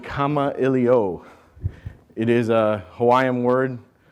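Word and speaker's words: Kamailio: And more importantly, how do you pronounce Kama-Iliyo? You pronounce it Kama-Iliyo.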